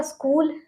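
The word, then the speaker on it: school: Next है हमारा स्कूल, स्कूल, ठीक है। स्कूल में एच को तो नहीं पढ़ेंगे हम, ठीक है, जहाँ हम जाते हैं स्कूल में, ओके।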